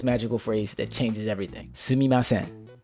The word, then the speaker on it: Sumimasen: Sumimasen. Pronounced sumimasen.